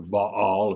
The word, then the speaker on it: Baal: You read in here, and it says, kill all those that join themselves under Baal Peor, or Baal, if you want to pronounce it that way, to this false god.